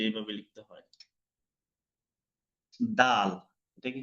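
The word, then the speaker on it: دال: দাল, এই যে এইভাবে লিখতে হয় দাল। এটাকে কি বলে? দাল, দাল। জিহ্বার আগা উপরের দুই দাঁতের গোড়া থেকে উচ্চারণ হবে দাল।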